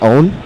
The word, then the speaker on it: pwn: PWN, it's pronounced own.